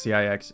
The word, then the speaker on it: CIX: So CIX, pronounced CIX, is a 5-member South Korean boy band formed by C9 Entertainment.